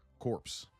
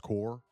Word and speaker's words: corps: uh core corpse which I I from my understand is pronounced core.